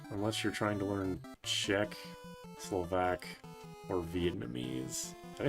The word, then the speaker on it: Czech: It's pronounced Czech.